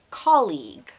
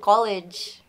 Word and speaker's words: colleague: I think he meant to say colleague. Colleague. Colleague. Colleague. Bukan college. College.